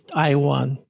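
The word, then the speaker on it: Tiwa: just another corruption of Taiwa and which is another level of corruption because if you actually pronounce it correctly in my language it's T Iwan and that's probably the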